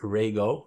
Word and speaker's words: Rego: or Rego it's it's spelled REO but it's pronounced Rego from Opa um in this case I opted